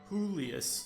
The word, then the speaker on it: Julius: Or, my bad, I guess now I should use the Spanish pronunciation. Julius.